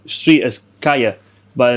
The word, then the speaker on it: calle: And then it's also if there's like a double L, it's actually a yeah. So like street is kaya, but it's spelled CALLE.